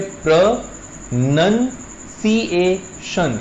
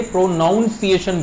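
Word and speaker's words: pronunciation: कहा जाता है और इसकी सही प्रोनंसिएशन होती है प्र नन सशन यानी प्रोनंसिएशन इसमें नन आता है नाउन नहीं लोग इसे प्रोनाउंस एशन बोलते हैं च इज रंग वो गलत है एंड साथ में कहा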